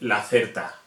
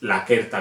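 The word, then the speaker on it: Lacerta: Inconscientemente decimos C y CI, y no, es como K, Ke, Ki, Ko, Ku, como si fuera una K siempre. Por ejemplo, no se dice la certa, es la querta viridis. Esto nos cuesta el cogerlo,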